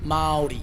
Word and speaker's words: Māori: Maori. Mardi. You say the rolled R like a D, so Maori.